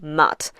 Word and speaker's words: Ma'at: of Mahat is that you can pronounce it ma. It's the Egyptological way of pronouncing it and it's absolutely fine. That is what most people will recognize it as or just mat.